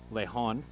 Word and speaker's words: Lehon: and that pitch from lahan is in four strike two two two now the count apologies on the pronunciation i just got with the dad of kalino lehon and it is le han so apologies for that